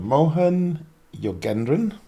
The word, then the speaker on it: Mohan Yogendran: Mohan Yogendran. Did I get the pronunciation right?